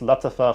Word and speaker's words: Lattafa: It's pronounced Lattafa Khamrah in Arabic, which means liquor, and it's meant to be a clone of Angel's Share by Kilian.